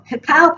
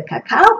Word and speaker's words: cacao: But the alternative is called cacao powder, and that's spelled C-A-C-A-O.